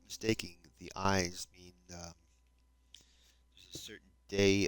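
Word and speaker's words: Ides: day of March considered the eyes or eyes. I d I believe it's spelled not eyes like an eyeball, but I d it's a Latin word, I believe.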